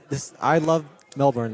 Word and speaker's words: Melbourne: I love Melbourne. Like there's lots to do, and yeah. But I got to let you know, it is Melbourne, all right? Yeah. It's Melbourne.